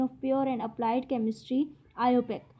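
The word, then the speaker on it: IUPAC: Pure and applied chemistry, आईओपेक, pronounced आईओपेक। ठीक है, इसको इस तरीके से प्रोनाउंस किया जाता है।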